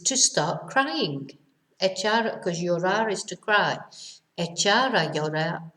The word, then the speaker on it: llorar: Remember our double L pronunciation is a y sound.